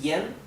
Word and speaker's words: yan: esto es yen y esto es yang, ¿verdad? La G es casi, se pronuncia apenas, es muy sutil. Aquí la principal diferencia entre esta sílaba y esta es que en esta la A se pronuncia como una E y aquí la A se pronuncia como una A.